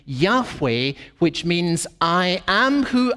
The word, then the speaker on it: Yahweh: But most scholars think today that, in fact, the name should be pronounced Yahweh. Yahweh, with just the 2 vowels added to the 4 letters.